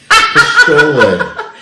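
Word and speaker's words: pozole: Pistole. What is it? Pistole. How do you spell that? P-O-Z-O-L-E. Pistole. Pistole. It sounds like pistole. Or there's an S. You can do it with an S.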